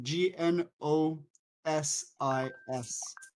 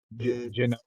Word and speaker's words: Gnosis: Um, genosis. Genosis. Is that what you're talking about? It's nosis. The the G is silent.